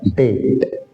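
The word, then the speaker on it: debt: number का है डेट ये डेट बोलेगा डेट इसमें भी साइलेंट रहता है और डेट का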